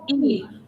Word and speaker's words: ή: Just E.